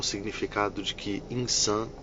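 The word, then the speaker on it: إنسان: Homem árabe significa insan. É o nome que a gente utiliza, né? Pronúncia essa assim, insã.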